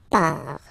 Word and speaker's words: pars: So final S not pronounced. Je pars.